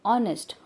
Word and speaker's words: honest: But H is silent here. There is no sound of H here. What we used to pronounce it? Honest.